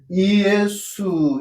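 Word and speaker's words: Ἰησοῦ: 그럼 이걸 어떻게 발음을 하냐면 이것은 이의수 이렇게 발음을 하고 이것은 이에수 이렇게 발음을 하고 이것은 이에순이라고 발음을 해요.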